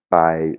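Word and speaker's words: ไป: Païe, le verbe aller, hein, c'est vraiment un son P qui explose un petit peu, hein.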